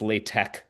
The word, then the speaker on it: LaTeX: Um, I should I want to say one more thing about Latte. So, LaTeX or it's really pronounced Latte. You pronounce the X like a K.